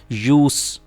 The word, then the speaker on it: use: अगर ये नाउन हो तो हम इसको एस की साउंड के साथ यूज़ प्रोनाउंस करेंगे. अगर ये वर्ब हो तो फिर एस को जी की साउंड के साथ हम प्रोनाउंस करेंगे.